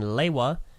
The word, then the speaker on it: Lewa: jungle in the trailer, as opposed to the official written pronunciation in G1 being Leiwa, and every other viable source of story information that was not a retrospective being Lewa, and Greg himself saying it's Lewa.